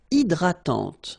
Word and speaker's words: hydratante: Une crème hydratante. So remember, H is not existing, and then this Y is pronounced like I.